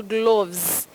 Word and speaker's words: gloves: tricky one yeah betty later o in that word takes the mid vowel sound of the mid central vowel sound gloves gloves we don't